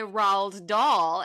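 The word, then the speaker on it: Roald Dahl: it ra raw that's why I say Ral doll and everyone knows who I'm talking about and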